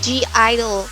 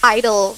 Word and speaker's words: (G)I-DLE: has 2 parenthesis and you don't pronounce it as GEE-I-DLE, it's I-DLE and in korean it's yeoja aideul IDLE has released a lot of bop songs, but..